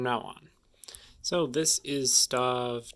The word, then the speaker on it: stave: about the process but let's move on to stav 2. i have just learned it's pronounced stave so i will be saying that from now on so this is starve 2 the ghost of christmas past and this